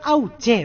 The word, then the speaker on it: Auché: Tu apellido es Auche, ¿verdad? Lleva acento en la E. El apellido es Auche con acento en la E, pero bueno, ya está marcado Auche.